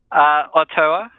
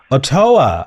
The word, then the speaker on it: Ottoa: Ottoa. Ottoa. Okay. So it's like Ottawa, but without the W.